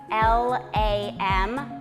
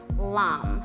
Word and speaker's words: lam: the first chakra is L AM lam Lum however you want to pronounce it so just inhale um